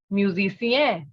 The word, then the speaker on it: musicien: So a male musician in French is musicien. The first one, musicien, musicien. The sound of N will not be pronounced.